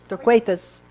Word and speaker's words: Torquatus: Torquatus.